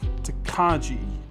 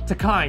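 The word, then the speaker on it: Tokaji: And I always get this wrong because the spelling looks like Takaji, but the pronunciation is actually different, isn't it? Takai, yeah.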